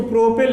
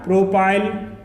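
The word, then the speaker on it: propyl: सकते हैं, मिथाइल, इसको एथिल या एथाइल, इसको प्रोपिल या प्रोपाइल, ब्यूटिल या ब्यूटाइल, ओके।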